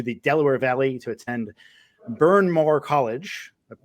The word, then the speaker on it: Bryn Mawr: She is a Florida transplant, having moved to the Delaware Valley to attend Bryn Mawr College. I pronounced that correctly. Bryn Mawr.